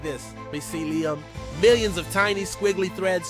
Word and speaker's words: mycelium: Mycelium.